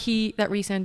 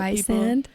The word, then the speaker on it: Rhysand: Because I feel like that's what Rhysand. Not Rhysand. That's what I thought in the beginning.